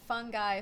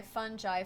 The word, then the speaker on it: fungi: Yeah, so apparently you can pronounce it fungi, fungi, fungi, or fungi.